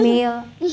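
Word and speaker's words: mail: भी लॉन्ग ए होगा ए एम ए आई एल मेल एम ए एल ई भी मेल हुआ और एम ए आई एल भी मेल हुआ स्नेल एस और स्नेल पेंट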